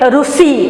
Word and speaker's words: ऋषि: जैसे अगर हम उड़िया में कहेंगे ऋषि, लेकिन हिंदी में ऋषि, उड़िया में हम कहते हैं ऋतु, लेकिन हिंदी में ऋतु।